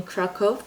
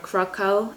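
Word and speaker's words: Kraków: I once lived in Kraco or Krakco as Americans say in Poland is the second biggest city in Poland.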